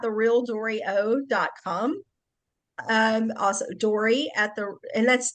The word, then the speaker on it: Doree: r e um and it is pronounced dory like yes like finding finding Nemo finding Dory.